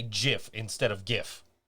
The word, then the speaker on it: GIF: invented the file format says it's jiff with a soft G so he's probably right